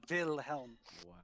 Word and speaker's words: Wilhelm: spelled with a w it is spelled with the w but pronounced with the v the will helm uh denoting that that